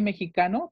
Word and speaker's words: mexicain: Aquí les escribí mexicano para los chicos, Juan José. Ustedes dicen mexica, ¿ok? Mexicano se pronuncia mexica. Tienen que decir, je suis mexica.